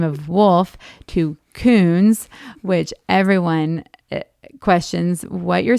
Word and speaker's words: Kuhns: very strong uh last name of wolf to coons which everyone questions what you're saying and how to spell it uh but i do love uh being